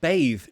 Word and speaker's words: bathe: bathes so the verb bathe to bathe get in a bath get in the shower wash yourself to bathe bathe it's a voiced sound babe could you please